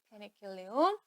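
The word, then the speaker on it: Penicillium: 때문에 이라고 얘기를 하는데 항명을 읽어 줄 때는 페니실리움이라고 읽어야지 아 바른 겁니다 페니실리움 그다음에 아스페르길루스 아스르 아스페르길루스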